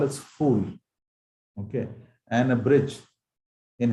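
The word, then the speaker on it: फूल: So a flower in Hindi is called as fool. Okay. And a bridge in Hindi is called as pull. There's a very slight difference of pronunciation between fool and pull.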